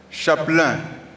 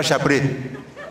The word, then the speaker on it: chapelain: Il faut bien prononcer, hein? Chapelain, c'est pas chapré. Les vieilles ébriers là, on dit ah, maintenant Akwadan est devenu chapré. C'est pas chapré, c'est chapelain de sa sainteté.